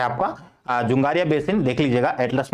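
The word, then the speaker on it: Dzungaria: ठीक है, क्या कहेंगे उसको हम, या फिर अच्छे से प्रोनाउंसिएशन उसका हो जाएगा, हिंदी वाले टेक्स्ट में किस नाम से लिखा हो। एक सेकंड रुकिएगा। ये हो जाएगा आपका जुंगारिया बेसिन।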